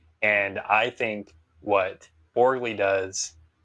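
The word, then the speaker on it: Borgli: Maybe maybe and I think what Borgley does, I believe that's how you pronounce his name, Borgley.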